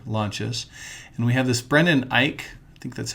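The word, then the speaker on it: Brendan Eich: here netscape navigator launches and we have this brendan ike i think that's how you say it who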